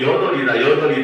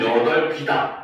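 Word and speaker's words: 여덟이다: 그래서 표준 발음은 여덜비다입니다. 근데 학생들이 자꾸 여덜이다 하다 보니까 이게 인정이 납득이 안 될 거야. 알겠죠? 근데 실제로 주격 조사가 붙으면은 여덜비, 그렇죠? 서술격 조사가 붙으면 여덜비다. 이게 표준 발음이 맞습니다.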